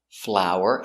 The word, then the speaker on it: flower: Next we have flower and flower. They are pronounced the same.